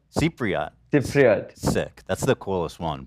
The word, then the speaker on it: Cypriot: So I guess my first question would be, as a Cypriot, how do you say it? Cypriot? Cypriot.